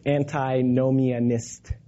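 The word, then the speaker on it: antinomianism: he looked at the anti no meanness which Kurt went over with me on how to pronounce because I kind of slur it it's anti no Mia missed yeah there we go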